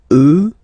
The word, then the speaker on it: eux: get the sound remember, final X not pronounced, and then plural, elle, elle. Okay, so let's see them one more time. Moi, toi, lui, elle, nous, vous, eux, elles.